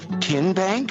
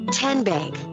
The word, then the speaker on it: TN Bank: following this three-minute timeout how do you say the name tn bank no tin bank uh-uh so what is it ten bank ten as in tennessee right here where all